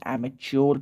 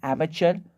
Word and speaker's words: amateur: एमेचर word की spelling आप लोग देख लें, एमेचर पढ़ते हैं इसको, बहुत लोग एमेच्योर पढ़ते हैं, बहुत लोग एमेटर पढ़ते हैं, लेकिन करेक्ट प्रोनाउंसिएशन है एमेचर। मरियम वेबस्टर में देख लें, ऑक्सफोर्ड एडवांस लर्नर्स डिक्शनरी में देख लें, आपको मिल जाएगा।